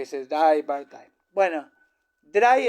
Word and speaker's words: drei: Bueno, dry entonces se escribe Drey y se pronuncia dry como Einstein.